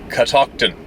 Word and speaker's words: Catoctin: I drove up to Catoctin pronounced in catocton State Park in Maryland